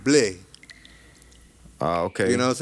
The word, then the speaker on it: Blais: Blais is French. Is Canadian French. Like in France, they pronounce it Blais.